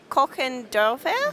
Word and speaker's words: Kochendorfer: Your company is Kochendorfer? Yes, perfectly pronounced.